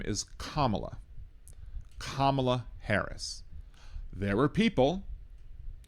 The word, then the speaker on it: Kamala: it wrong once, but I just want to tell you that her name is pronounced Kamla.